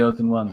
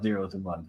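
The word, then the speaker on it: O's and 1s: I'm impressed you called it the O's and ones. A lot of people call it zeros and ones, but yeah, it's pronounced those and ones.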